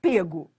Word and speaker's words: pego: no início a forma, a pronúncia era fechada, pego. Mas hoje liberou geral. Então vou repetir. Antes, né, português, norma culta, você só podia dizer pego. Ele foi pego. Hoje liberou o geral.